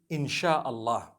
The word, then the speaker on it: Insha'Allah: They pronounce the S-Y the way we pronounce S-H. So they can write it how they want for as long as when people read it, they read it Insha'Allah.